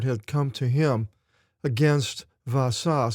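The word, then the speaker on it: Baasha: In Greek, what looks like a B in English is pronounced with a V sound. Baasah.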